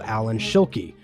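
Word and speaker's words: Alan Schilke: be legendary coaster designer by the name of Allan Shuli that that one's pronounced right right that one is correct nailed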